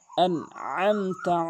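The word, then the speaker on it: أنعمت: আইনের জায়গায় আইন উচ্চারণ করতে হবে হলকের মাঝখান থেকে। আনআমতা আলাইহিম, এখানে আলাইহিম বলে, আলাইহিম আইনের জায়গায় হামজা এনে বলে, এখানে আইন উচ্চারণ করতে হবে।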